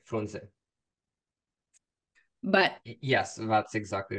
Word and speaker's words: Frunze: I just say Frunze in English. So you pronounce the Romanian E? To sound like in Romanian to sound like Frunze. Oh, as a short E. Like Frunze.